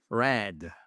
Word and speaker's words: read: Eh bien, elle se prononce red. Red. Mais comme la couleur, Adrien.